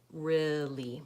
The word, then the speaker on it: really: it sounds like this really so that's the same vowel as in pink pig and different and that's that that's